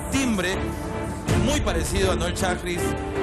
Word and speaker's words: Schajris: ¿Es Chagris o Chagris o cómo es?